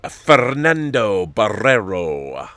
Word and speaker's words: Fernando Barrero: foundation series on apple i enjoy how you pronounce my name fernando barrero i love the roll the r's it's great like uh